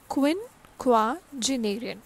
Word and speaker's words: quinquagenarian: पहले आप पढ़ेंगे क्विन QUIN क्विन फिर क्वा QUA then genarian right.